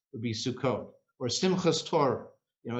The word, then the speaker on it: Sukkot: is shabbat accepted because the hard t at the end becomes a soft s in the yiddish pronunciation or sukus would be sukkot or simchas toro you